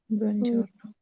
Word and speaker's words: buongiorno: buongiorno। ठीक है। जी। ओके जी। चाओ के स्पेलिंग भी आपने याद करना है।